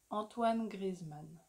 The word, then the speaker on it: Antoine Griezmann: Antoine Griezmann.